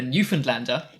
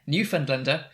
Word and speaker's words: Newfoundlander: this article from, I'm going to try and pronounce it correctly, the Newfoundlander. Yes, good job, Paul. Fantastic. You've almost got to my Canadian pronunciation level. Got the Canadian approval there. Newfoundlander. No, Newfoundlander.